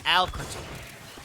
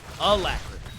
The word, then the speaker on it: alacrity: It's elacrity, not alcrity. Alacrity. We got it.